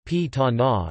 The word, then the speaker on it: Pantanal: The Pantanal Portuguese pronunciation, P-ta-na, is a natural region encompassing the world's largest tropical wetland area.